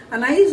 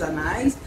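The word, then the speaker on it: Anaïs: com assento no i Anaí com assento no i isso isso mesmo a pronúncia com assento no i Teve uma época que o pessoal não colocava assento não falava Anis anais mas aí tinha outros significados né mas é ele tem um acento porque eu tenho trema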